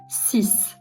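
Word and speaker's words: six: Sis ama bu sefer de x'i s gibi telaffuz ediyoruz.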